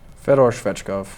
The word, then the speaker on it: Fedor Svechkov: Fedor Svechkov.